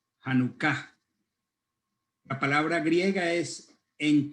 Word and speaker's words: Hanukkah: La palabra dedicación es la palabra que en hebreo la palabra es Hanukkah, con acento en la segunda A, Hanukkah.